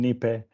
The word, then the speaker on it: NIPE: or na I I never know how to pronounce it I think most probably will be saying nipe because of my Spanish background any okay um there